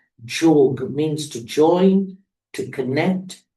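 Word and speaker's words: योग: is known as Raja Yoga Meditation. Tehnica practicată aici se numește Raja Yoga, meditația Raja Yoga. Raja means master, king, sovereign. Raja înseamnă suveran, rege, prinț. And yoga, the real pronunciation is jog, means to join, to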